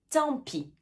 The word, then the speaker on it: tant pis: Et maintenant, tant pis. Tant pis. Tant pis. On ne prononce pas le T et on ne prononce pas le S.